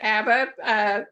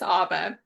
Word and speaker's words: Abba: Yeah, a lot of people pronounce it ABBA, like the rock band, but it's ABBA, as in Abba Father.